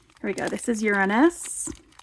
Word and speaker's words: Uranus: I'm not going to pronounce it the other way. If you want to pronounce it in your head that way, that's fine. You can have yourself a little giggle. We're going to call it Uranus.